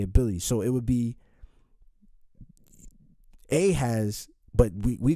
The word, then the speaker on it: Ahaz: There's no J or E. All right. So it would have been Ahaz.